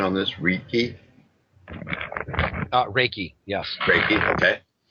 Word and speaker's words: Reiki: to study uh oh correct me on the pronunciation on this reiki uh Reiki yes Raiki okay uh yeah you